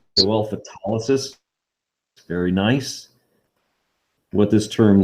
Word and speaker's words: photolysis: root for light is photolysis i even pronounced correctly nicely done okay the stress for that word is in the middle photolysis very nice what this